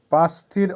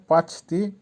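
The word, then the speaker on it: почти: পাঁচতি, পাঁচতির অর্থ হবে প্রায় বা কাছাকাছি। উচ্চারণ হবে পাঁচতি।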